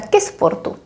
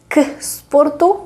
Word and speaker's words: ke sportu: Why don't we say k sportu? Well, because it's a little bit difficult to pronounce. K sportu does not work because the word sport has two consonants at the beginning, sp, sp.